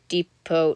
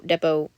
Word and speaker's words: depot: headed towards the train depot Depot Depot Depot to look around I know the t is silent but I I get